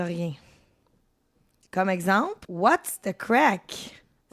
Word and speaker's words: craic: Fait que là si tu me dis what's the crack puis moi je te réponds notre match, qu'est-ce qui va m'arriver ?